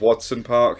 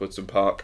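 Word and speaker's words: Wodson Park: pull me up on although it looks like it says Watson park it is pronounced words in park I know because I'm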